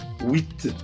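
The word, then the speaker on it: huit: Eight is being pronounced in French as with All right.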